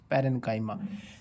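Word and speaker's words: parenchyma: आर ई एन सी एच वाई एम ए पैरेंकाइमा एक जो second part है इसका कॉलन सीओ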